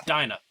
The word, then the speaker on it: Dinah: wrong on the podcast it's a d-i-n-a-h it's so it's dyna dynamics okay yeah dino